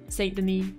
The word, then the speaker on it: Saint Denis: Apparently, I've been saying Saint Denis wrong because there's a silent S in Denis, whatever.